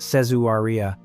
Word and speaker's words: Caesarea: a division known as Caesarea, pronounced Sez-oo-ree-ah, and Caesarea is where the deepest, darkest work is said to live.